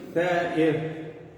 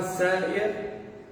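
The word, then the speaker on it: ثائر: Tem homens que se chamam Tha'ir. Se tu falar Sa'ir, é outro sentido na língua árabe.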